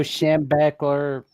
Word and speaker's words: Schembechler: Bo Schembechler.